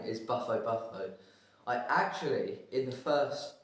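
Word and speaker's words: Bufo bufo: Uh, the scientific name is Buffalo Buffalo. I actually in the first ever video that we did I got the name wrong.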